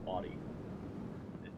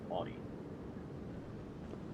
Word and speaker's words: Audi: Yeah, that's actually the true pronunciation of it, is Audi. Americans, we call it Audi, but it's actually Audi.